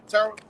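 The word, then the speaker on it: Terah: from his father uh tetra's house that's how you say his name yeah Terra all right he separated him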